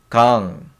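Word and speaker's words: 강: So it sounds like a ng sound. So it's kang, kang, kang. So we in English like G I N G. No, G I, not G. G A, I guess. So kang. So it's like ng sound. So this is ng.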